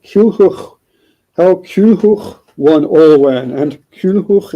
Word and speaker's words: Culhwch: So how Culhwch won Olwen, and Culhwch is spelled Culhwch, because W is a vowel in Welsh, sometimes, usually, commonly. So this chap named Culhwch